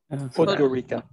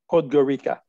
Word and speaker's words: Podgorica: Podgorica. How do you say it? Podgorica. Podgorica.